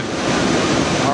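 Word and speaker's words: Köln: We're now in, oh yes, how do I pronounce this place? Koln? Yeah, Koln. Koln.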